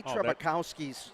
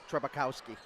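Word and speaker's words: Trzebukowski: said there's no way they said the z is silent it's t-r-z-e-b and he says just call him trebuche trebukowski trebukowski yes now here comes solomon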